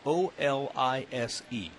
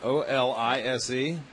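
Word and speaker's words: Olise: His first name is spelled O-L-I-S-E. Want to take a stab at that? Swing and a miss. Hold on a second. O-L-I-S-E? Olis? Olis? Yeah, that's close enough. I believe it's German.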